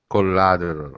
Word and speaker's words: collateral: yes collateral maybe close collateral collateral okay with the famous D in American accent yeah okay I like it I like this when T it's pronounced d it's always hard uh